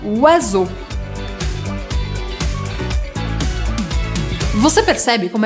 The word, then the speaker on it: oiseau: Se você ainda não souber nada de francês, você vai achar que precisa pronunciar todas as letras e vai querer falar alguma coisa como oiseal. Mas na verdade, em francês, a combinação de letras muda o som e essa palavra se fala oiseau.